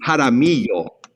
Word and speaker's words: Jaramillo: So this name would be Jaramillo. Jaramillo. So treat the double L like a Y.